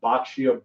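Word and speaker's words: boccia: does anyone know what bacio ball is that's what some of the main topic is going to be on today bacio ball you may be thinking why is he pronouncing bocce ball that way well I'm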